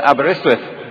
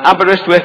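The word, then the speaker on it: Aberystwyth: studied chemistry at the University College of Wales abber iswith uh abber iswith in case you don't know is a beautiful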